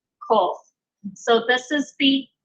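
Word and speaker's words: קוף: It sounds very similar to the Kaf, which is the equivalent of our K, but it's actually pronounced a little bit further back in the mouth.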